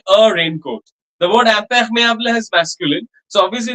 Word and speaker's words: imperméable: That first M, madam, I am, that M is also nasal, huh?